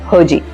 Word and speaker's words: Hergé: But the world knows him by a different name, Hergé. That name comes from the French pronunciation of his reversed initials, R.G.